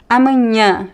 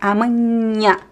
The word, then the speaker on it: amanhã: L l l Julho velho filha And the nh is pronounced like the Spanish ñ or the word ñoki Everyone likes loves ñoki, right? Amanhã vinho junho So remember whenever you see this combination, it's not am right?